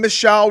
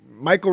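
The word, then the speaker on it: Mychal: last week um even michelle rivera who's going against saint uh michael rivera actually his name is but it's spelled weird spell like michelle i call him michelle sorry michael rivera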